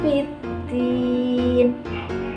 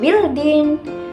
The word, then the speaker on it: biddin: Cara membacanya memasukkan huruf lam ke dalam huruf da. Jadi bukan bildin, tapi biddin dimasukkan.